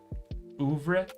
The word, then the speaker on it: oeuvre: Oeuvre?